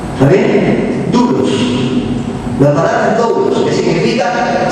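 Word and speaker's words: δοῦλος: en el original es doulos pongan ahí el costadito dlos con d de dedo se pronuncia dulos está bien dulos la palabra dlos que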